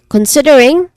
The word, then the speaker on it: considering: Considering, there's four distinct sounds, starting with con, which has a short O vowel sound.